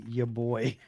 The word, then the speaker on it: Yeboah: I am now going to read his name as Kenny Yeboah from now on, because that's what it looks like.